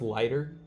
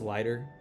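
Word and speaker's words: Leiter: And then this Jack, I think you say I think it's pronounced lighter. I'm going to assume it's lighter.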